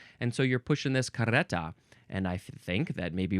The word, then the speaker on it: carreta: Next word, carreta. There is the double R there, so I think it is good to do the little tongue flutter.